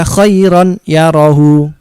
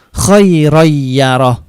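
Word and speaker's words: خَيْرًا يَرَهُ: Kalau ini tulisannya khairon, terus kemudian yarohu. Tidak dibaca khairon yarohu, tapi bacanya khairoyyaroh, khairoyyaroh, khairoyyaroh.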